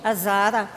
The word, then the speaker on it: Hazara: Lei viene dall'Afghanistan, dalla etnia degli Hazara, si pronuncia così, Hazara.